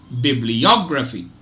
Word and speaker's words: bibliography: primary and second research just observe bibliography bibliography I repeat bibliography bibliography so if You observe uh there are two stress syllables okay and tell me